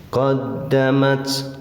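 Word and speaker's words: قَدَّمَتْ: Thobi'i atau mad asli qoddamat qoddamat Dal ditasdid tekan tahan ya tapi jangan terlalu menekan nah matnya ini HAM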